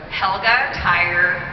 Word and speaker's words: Telgemeier: my last name it's called the minor which rhymes with the name held up and tire so Helga tire tell the Meyers yeah it's tricky it's German